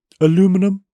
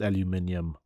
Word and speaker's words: aluminium: Aluminum? It's pronounced aluminium.